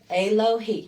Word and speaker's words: Alohi: Alohi. Yeah. A. Low. Remember, it doesn't change. He. That's how it sounds.